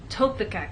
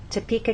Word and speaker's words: Topeka: So you can see that we stress the middle part of the word, Topeka, and here the first part, Kansas.